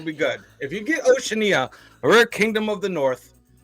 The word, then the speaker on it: Oceania: I'm talking about Oceania I've heard it pronounced other ways Oceania Oceania but the one I've heard the most is Oceania so I'm going to call it that now in Oceania got